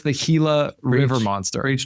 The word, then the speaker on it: Gila: I call it a Gila monster. I mean, yeah, it's it's spelled G I L.